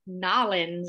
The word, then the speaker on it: New Orleans: canadian um in fact i don't say it like some would say i'd like nollens or something so um yeah i